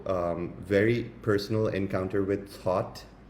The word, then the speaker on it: Thoth: very personal encounter with thought some people also pronounce it teot um thought came um